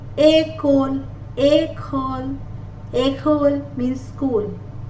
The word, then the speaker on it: École: E with an accent aigu is pronounced as A. École.